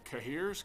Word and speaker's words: cahier: How do you pronounce the cahiers?